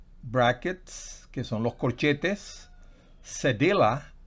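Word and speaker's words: cedilla: que son los corchetes cedella así se pronunciase de la que en español se pronuncia sevilla o es es hace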